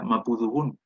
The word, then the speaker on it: mapudungun: Y no sería tan, no se pronuncia tanto como mapudungún, porque en el caso de mi abuela, ella lo pronuncia mapudungún. Mapudungún. Con una sola D.